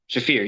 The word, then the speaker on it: Shafir: The Sharif? fear. Shafir, yeah.